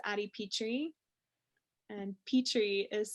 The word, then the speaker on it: Pitre: i e moonflower and uh facebook it's adi petri and petri is spelled p-i-t-r-e a lot of people are like